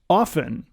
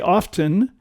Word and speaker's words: often: ways and that is often i oh yeah a lot of people say often and i go you don't have to say the t t uh but it's